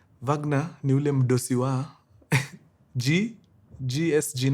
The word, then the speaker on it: Wegener: Wegener, the W is pronounced as V. Wegener is the GSG 9 boss.